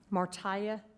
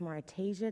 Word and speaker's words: Martasia: Martia, followed by Mrs. Just for record purposes, it's pronounced Martasia, so if you could start my time over, please, I would appreciate it.